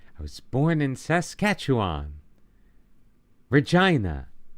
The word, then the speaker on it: Regina: Regina. I remember because it's pronounced like vagina.